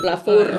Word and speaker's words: Lavour: Kurang R-nya tadi. Lavour. Tapi kalau pelafalan Lavo.